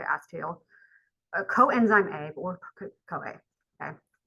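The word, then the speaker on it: acetyl: two carbon something called acetal or acetal however you want to pronounce but I always heard people say acetel coenzyme a or COA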